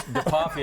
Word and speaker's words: DePoffi: It's DePoffi. I always say it rhymes with coffee, and then everyone remembers it.